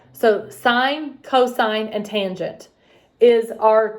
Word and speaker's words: sine: students say miss kim that's sin no no no it's sine it's spelled s-i-n-e but if you grab your calculators right now and look for the button it's going to have s-i-n that means sine sine cosine and tangent